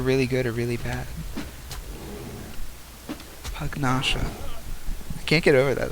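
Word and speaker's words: Pugnacia: don't have any access to crystal right nouns pronounced hug nasha nasha okay okay definitely would not have gotten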